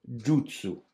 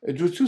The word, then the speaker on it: jutsu: de deux façons mais la bonne façon à la fois de l'écrire et de le prononcer est jutsu jutsu ça signifie technique le